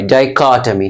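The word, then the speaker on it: dichotomy: जैसे मैंने कहा डाइकोटमी, डाइको CHO को, टमी TOMY, डाइकोटमी।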